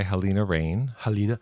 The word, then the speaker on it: Halina Reijn: Directed by Helena Rain. Helena Rain, as we were instructed by some dude on YouTube because we weren't sure how to say it. But a Dutch dude, so it's legit.